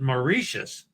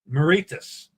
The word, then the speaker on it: Mauritius: How did you pronounce I pronounce it Mauritius. You pron you pronounced it differently than I do. Maritus. Martus. Where you're going after Australia. Moritus. Yeah. I It depends on the accent and where they're from.